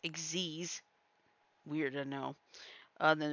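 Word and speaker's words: Xyz: XZ summary X is spelled x y z but it's pronounced exies weird to know uh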